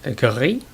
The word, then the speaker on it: Gris: Now, the pronunciation, I'm pretty sure, is gris. Well, as near as I can approximate it in a way. It's the French word for grey, and I'm not French,